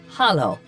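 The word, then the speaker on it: Halló: or daughter daughter 13 hello in Icelandic is pronounced Hollow thank you is Tu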